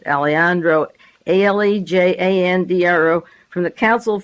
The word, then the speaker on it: Alejandro: Diaz Alejandro, A-L-E-J, the J is silent, Alejandro, A-L-E-J-A-N-D-R-O, from the Council